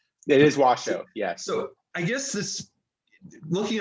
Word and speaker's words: Washoe: And I have to say, I've been pronouncing it wrong my entire life. My entire life I've been saying Washoe County. So it's Washoe, right? It is Washoe, yes.